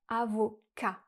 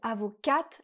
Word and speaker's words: avocats: le T est muet et le S du pluriel aussi. Donc on va dire simplement « avocat ». Si on dit « avocate », alors on parle d'une femme avocate au féminin.